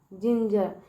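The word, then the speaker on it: ginger: फिर यहाँ पे देखिए जी ई है तो ज, ठीक है। र से आर, जिंजर।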